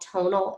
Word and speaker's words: Tonl: It's called Tonal. It's spelled Tonl.